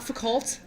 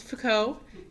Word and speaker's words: Foucault: pronounce people's names like it's not fficult it's Foucault it's it's not jocks lakyn it's jacques lacan right so it's not